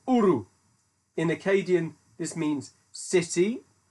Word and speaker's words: Ur: Linguistically, it should be pronounced in Akkadian, which is the language that they spoke there. Now, hang on for this, my Akkadian's terrible. As Ur or Uru.